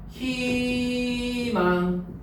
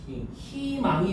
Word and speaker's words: 희망: 다만 3 자음을 첫 소리로 가지고 있는 음절의 의는 이로 발음한대요. 그럼 여기에 해당하는 게 일단 뭐예요? B죠. B. 자, 봐보세요. 희망. 이거 발음할 땐 어떻게 해야 돼? 희망이 돼야 돼.